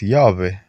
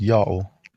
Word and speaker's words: Ιαω: ever existed he didn't samaritans pronounce it as yahweh and they pronounce it wrong but the yahushua all pronounce it as yao they said it correctly because it's their god do these evidences satisfy